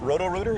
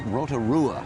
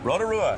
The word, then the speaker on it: Rotorua: little town is it is it rorer is it close am I right did I pronounce that right not very very close but your way off it's Rotorua Rotorua yes New Zealand right